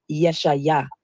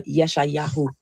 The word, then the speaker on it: Yeshayahu: The funny thing about the name Isaiah is many people don't know that the true Hebrew pronunciation of Isaiah is Yeshayah or Yeshayahu.